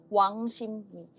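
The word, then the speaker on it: 왕십리: Itu Wang Shipri tulisannya, tapi bacanya Wang Shimni.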